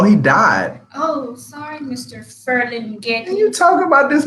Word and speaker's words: Ferlinghetti: Feeler lily. that's not how. Ferlinghetti.